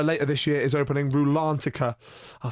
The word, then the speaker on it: Rulantica: And also, later this year is opening Rulantica. I'll say it correctly. Rulantica, which is going to be their new indoor